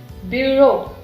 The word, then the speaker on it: bureau: And EAU is O, bureau, bureau. Bureau means office.